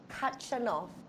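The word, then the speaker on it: Khachanov: have bought TM versus Katrin off I think I've always heard the K is silent in his last name it is that you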